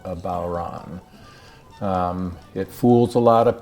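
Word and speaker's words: bodhrán: a really fascinating percussion instrument today called a bauran it fools a lot of people because it's spelled b-o-d-h-r-a-n you'll probably have seen that in the title of this youtube video but it's pronounced baueron and it's an old instrument that arguably has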